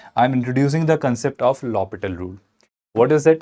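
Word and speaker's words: L'Hôpital: by infinity there is a rule suggested by lital. Lital was a French mathematician and he has suggested a rule.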